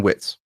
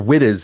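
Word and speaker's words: Wittes: So the person who was the second voice in there is a man named uh Benjamin Witz or Wittis as some people pronounce it and he is not an unknown person.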